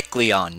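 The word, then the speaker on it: Kecleon: her name that's the k k k k kleon that's how it is kleon shop kleon I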